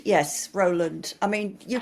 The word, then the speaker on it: Rowland: Is it Roland or how do you pronounce it? Roland. Yes, Roland.